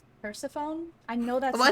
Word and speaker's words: Persephone: Persephone? Okay. I knew that was correct. I don't know why, for like the past, I don't know how many years, but my brain wants to say Persephone.